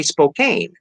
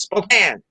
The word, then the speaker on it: Spokane: the vowel long so if people would say spokane like rhymes with citizen kane and uh that was an understandable mistake the great's on our ears no it's spokane well why the hell